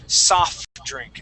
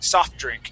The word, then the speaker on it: soft drink: uh soft drink okay a lot of people um want to pronounce this uh and use your diction to say soft drink and pronounce that t when in reality when we pronounce this word we uh we sort of combine them and we say soft drink soft drink uh without pronouncing that t try that please soft